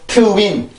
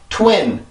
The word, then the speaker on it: twin: 절대 우리나라 말은 그냥 twin 이렇게 발음을 하죠. 근데 영어는 그게 아니라 twin 강세도 들어가고 영어의 소리 자체도 다르죠.